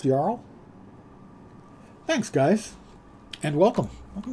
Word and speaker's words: Jarl: yarl or cyber Jarl I would always say Jarl but it's probably actually pronounced yl thanks guys and welcome